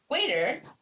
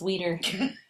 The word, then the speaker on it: Weeder: Waiter, Shane's roommate, that name. That's how you say it too, it's Weeder.